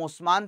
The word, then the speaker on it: उस्मान: fighter ruler से जिनका नाम उस्मान था जिसको वेस्टर्न लोग उस्मान नहीं बुला पाते थे मिस प्रोनाउंस करते थे तो वो नहा से नाम ऑटोमा ऑटोमा कहते थे ठीक है तो